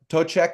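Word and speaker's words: Toiteach: and Irish or Scots that you're saying it, Tochek is a pretty clear way to say this. Okay. Tochek aga. Pochek aga. Aga. So Interesting. that Aga. ADHA is aga. Tochek aga, which is essentially Smoky 2 or Smoky the Second.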